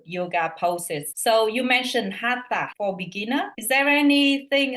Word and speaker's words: Hatha: So Hatha, that means Hatha, right? Is that how it's spelled? Yeah. Okay. Yeah, right. Hatha.